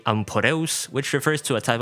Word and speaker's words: Amphoreus: Also, Ampharius is supposed to be amporus, which refers to a type of ancient Greek char.